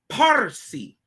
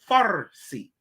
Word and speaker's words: Parsi: of the ancient Persians it is Percy not Farsi get it like they spell it with an F today anciently it was with a p no no h no pH this P part of C because they are the people of parsia gotta understand it and